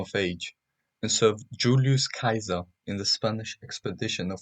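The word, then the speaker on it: Caesar: grandmother Julia minor was the older sister of Kaiser she showed much affection and took a lot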